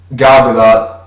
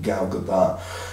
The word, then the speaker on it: Gadot: With that, Wonder Woman, Gal Gadot, or I think the T is silent, technically Gal Gadot.